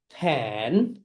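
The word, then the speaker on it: fan: সবাই বলে ফেলো ফা অ্যান ফ্যান, ফা অ্যান ফ্যান। অ্যান্ড তোমাদের কিন্তু মনে আছে রাইট, তুমি যখন ফ্যান প্রোনাউন্সিয়েশন করবে, এফ উপরের দাঁত নিচের ঠোঁটের সঙ্গে টাচ করো, ফ্যান, ফ্যান, ফ্যান, ফা অ্যান ফ্যান, ফা অ্যান ফ্যান।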